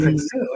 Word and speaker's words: Freixedo: Entonces, también está Salvador ahí, Freixedo, hay uno de efectivamente, sí, sí, un Salvador